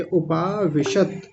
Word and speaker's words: उपाविषत: मैं जल्दी-जल्दी बताऊंगा अब तो एव मुक्तजुनः एव मुक्तवारजुनः देखिए मुक्त जोनः एव मुक्तजुनः संख्य रथोपस्थ रथोपस्थ उपाविषत हलंत लगा हुआ है तो वहीं रुक जाएंगे उपाविषत और आगे है विसिज्य